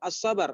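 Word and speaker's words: الصبر: Jadi kenapa kalau dalam menulis tetap ada AL-nya Ibu Suhartini, ya? memang harus, tapi bacanya tidak. Bacanya mengikuti kaidah ilmu tajwid. Ada namanya alif lam syamsiyah atau alif lam qamariyah.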